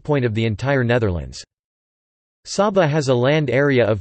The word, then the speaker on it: Saba: Saba, Dutch pronunciation, Saba, is a Caribbean island which is the smallest special municipality officially public body of the Netherlands.